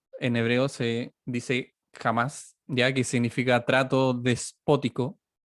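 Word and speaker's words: חָמָס: que hay definiendo un poco la palabra violencia, se escribe o en hebreo se dice jamás, ya que significa trato despótico, ya, o inmisericordia hacia un semejante.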